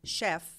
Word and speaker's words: chef: example if the word Chef you pronounce CH as she right because it's French the word chair because